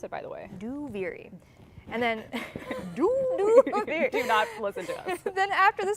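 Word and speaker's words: Duviri: saying out loud is a that's how you pronounce it by the way do viri and then then after the sound panel uh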